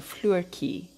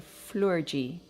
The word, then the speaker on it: Flurky: I read it like an Afrikaans word coming from South Africa. That TJI sound is like a key to us. So I was saying floorkie, floorkie. But you're saying it's like floor and the TJI you pronounce like the two first letters of Jesus. So floorgie, floorgie.